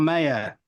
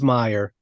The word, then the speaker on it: Meyer: Am I saying Meyer or Mayer? It's Meyer. Meyer.